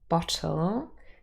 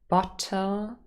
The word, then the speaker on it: bottle: uh here we have another word bottle and again you can see the second syllable has the schwa and a lateral bottle but said quickly it is often realized as bottle bottle and it's really just a um a syllabic oh so here we have